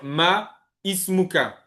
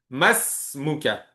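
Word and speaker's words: ما اسمك: On va pas dire ma ismuka. Non, fais la liaison. Masuka, vous voyez ici le alif, on va le supprimer ou plutôt ici ça s'appelle un hamzatul was. On va le on va le supprimer. On va faire la liaison entre le ma et le sin.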